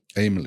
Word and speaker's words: Aymele: Like Emily, but A. Aymele. Aymele. There you go. Okay. Well, welcome to the podcast. And let's get going and let's ask you, where's Aymele from?